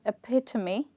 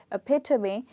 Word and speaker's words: epitome: circumstance we have three in this one we have four and here the stressed part is the second syllable okay and it's pronounced